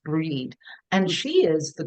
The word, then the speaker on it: Bride: it, who don't know, Brigid, but it's actually pronounced Breed.